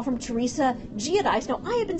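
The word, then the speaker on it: Giudice: you say your name it's not that hard it's geodis people I can understand there being an American pronunciation and an Italian totally get that but there can't be three versions that's that's impossible um I would say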